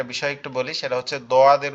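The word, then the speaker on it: ضاد: একটু বলি, সেটা হচ্ছে দোয়াদের উচ্চারণ। আমি জানি না আপনাদের এটা মাখরাজটা মনে আছে কিনা। দোয়াদের মাখরাজ হচ্ছে জিহ্বার গোড়া উপরের মাড়ির দাঁতের গোড়ার সঙ্গে লাগায়া।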